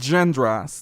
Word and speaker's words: genre: Number 10, we have different genres. That's the correct pronunciation. Genre.